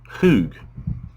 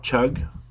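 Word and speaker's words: חוּג: So, H2329, here it is in English letters, and the way you pronounce this word is, as I understand it, hoog, not chug or cug, but hoog.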